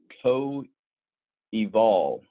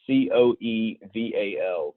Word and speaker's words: coeval: So the word of the day is coeval, is how I pronounce it. C-O-E-V-A-L, coeval.